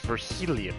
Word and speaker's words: Virgilio: It's pronounced Virgilio. I'm sorry, Virgilio.